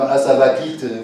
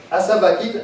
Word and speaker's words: Asavakit: Le mot même Asavakit vous envoûte. Et comment ça s'écrit? Asavakit, A-S-A-V-A-K-I-T.